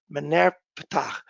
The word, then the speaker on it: Merneptah: The earliest inscription that relates to the Bible is in Egypt from Pharaoh Merneptah. It's a little hard to pronounce, from the god Ptah, Merneptah, Stele.